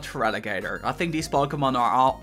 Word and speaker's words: Feraligatr: And then Feraligatr. Not Alligator, but Feraligatr.